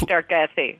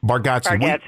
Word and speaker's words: Bargatze: Okay, with um How do you pronounce Nate Nate Bargatze. Bargatze.